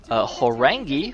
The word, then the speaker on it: Horang2: are going to be Horang2 for CJ Entis and Grape for Samsung Khan. Now, Horang2 is actually written Horang2 because apparently in Korean the 2 is actually pronounced as E.